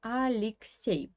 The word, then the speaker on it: Алексей: So you see that we have two E here again, but the first one is pronounced like E, yeah, and the second is pronounced like E.